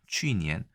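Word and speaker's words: 去年: 물론 작년이라고 해서 주어니엔도 있습니다만 중국에서는 주로 거년이라고 얘기합니다. 취니엔.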